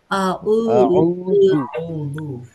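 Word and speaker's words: أعوذ: আউজু বললাম আউজু আউজু আউদু আউজু আউজু জ উচ্চারণ হচ্ছে না উচ্চারণ হচ্ছে দ এটা দ উচ্চারণ হবে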